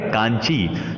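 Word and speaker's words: Kanchi: थे उसका नाम है कांग भी जिसे चाइना में ऐसे उच्चारण किया जाता है लेकिन भारत में इसका उच्चारण हो जाता है कांची जो पल्लवन राज्य में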